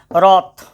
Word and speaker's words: wrath: सब में W silent हो रहा है, देख रहे हो, गौर से देखते जाओ। एक होता है WRATH, रॉथ, और ये रॉथ मतलब होता है क्रोध, जिसको